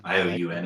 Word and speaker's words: Ioun: Yeah, Ioun. It's a weird pronunciation, but yeah, Ioun.